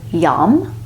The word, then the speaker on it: Yam: The seed syllable is Yam, Y-A-M.